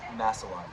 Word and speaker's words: Masilon: How do you pronounce your last name? Masilon. Masilon.